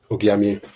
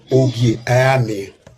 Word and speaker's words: Ogiame: Olakoko, I want to warn you the way you pronounce Ogiamie. Ogiamie Irebo, who was the first Ogiamie, was Ogiso Irebo after his father Ogiso Ivia. Now, it is called Ogiame.